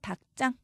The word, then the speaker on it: 닭장: 일단 닭장만 보면 대표음 기역이죠. 그 뒤에 지읒은 된소리로 발음해야 합니다. 그래서 닭장 이렇게 말하고요.